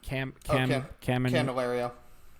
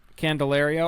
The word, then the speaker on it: Candelario: And the third baseman, how do you pronounce his name? Candelario. Candelario.